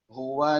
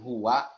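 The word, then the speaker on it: هو: Pokoknya kalau ada tulisan huwa ya di wakaf, maka bacanya jangan huwa lagi. Makanya bacanya hu, dan lagi-lagi suaranya itu hilang di udara.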